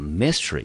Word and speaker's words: mystery: 好，所以这个字呢我们就念成 mystery，它的重音节呢我们就落在第一个音节，这个字我们念成 mystery。